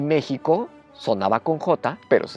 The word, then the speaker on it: México: gramatical y arbitrariamente dijeron méxico no va a ser con jota se escribe con x antes aunque suene con jota y se quedó escribiendo